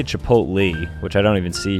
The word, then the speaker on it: chipotle: I say chipotle, which I don't even see here.